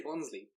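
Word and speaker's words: Bonsly: sense I suppose but I say bonsley it feels like a logical pronunciation I like it because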